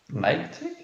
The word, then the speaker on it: Nike: Nike? Nike. That's how it's actually Oh.